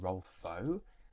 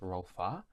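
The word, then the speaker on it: Rolfö: like I keep saying Rolfo. I know it's pronounced Rolfa. It just keeps sounding like Rolfo.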